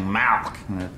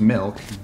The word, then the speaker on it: milk: You're saying Malk, like it's a disease. How do you say it? I'm saying it the way everyone ought to say it, milk, M-I-L-K.